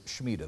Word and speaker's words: Shemitah: The Shemitah, which is spelled S-H-E-M-I-T-A-H.